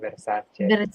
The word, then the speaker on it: Versace: That's how you say it, Versace.